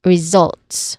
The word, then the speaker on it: results: All right, so this is zolts. We say it as results with emphasis on zolts.